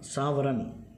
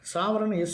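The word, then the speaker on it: sovereign: அப்புறம் நம்முடைய ப்ரியாம்பிளில் என்ன சொல்லியிருக்காங்க, முதல்ல சாவரன், இதில் வந்து சாவரன் SOVERIGN சாவரின் அப்படின்னு கூட ப்ரொனன்சியேஷன் இருக்கும். ஆனால் சரியான உச்சரிப்புன்னா சாவரன் தான் சொல்லணும்.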